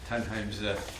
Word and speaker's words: Tunheim: with the Norwegian background, proper pronunciation of Tunheim's Tunheim, if I have it right in Norwegian.